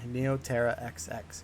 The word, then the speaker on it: Neoterra XX: the radioactive sewers of neotera xx that's how you say it i've heard a lot of different things but it is in canon neoterra xx in case you're wondering uh this in-hospital